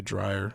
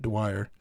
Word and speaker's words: Dwyer: right yeah dwyer yeah i always say dryer like an idiot dwyer he's just using his accent i was too but also just mispronouncing his name uh he did a